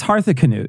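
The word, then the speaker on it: Harthacnut: least do a shi but that's how you pronounce it it's hetha Cano Hearth it's there's a CN it's C nut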